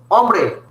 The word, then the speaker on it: hombre: As I said, when the word starts with H, the H remains silent. But individually, H is pronounced as Ache. You say Ache. Che. Ache is Ache. Ache. H. But then you say hombre.